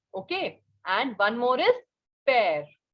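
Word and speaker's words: père: is for father and it is pear listen carefully pear pear means father okay and another word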